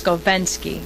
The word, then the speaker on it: Skovenski: Well, if you want to get technical, it's Skovenski, because it's an E. Skovenski.